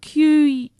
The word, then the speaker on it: quinoa: Yeah, so it's spelled Quinoa, but it's pronounced quinoa.